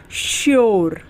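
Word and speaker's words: sure: है उसी तरीके से एस यू आर ई श्यर ठीक है नेक्स्ट रूल है कि जब किसी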